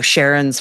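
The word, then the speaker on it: Charon: learning about, you know, Sharon's formation or or Karen depending on how you like to pronounce it or the potential for a subsurface ocean.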